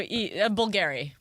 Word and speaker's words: Bulgari: So bull, gare. We got that. Oh. And then it's like the letter that my name begins with. E. I'm just doing this phonetically. Elaine. Yeah. Oh no. So Bulgari.